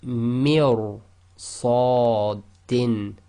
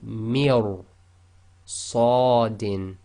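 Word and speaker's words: مِرْصَادًا: So here we have mir sadin. Okay, so you've got to go straight from the mi, which is empty mouth, directly into ra, which is full mouth. So mir sadin.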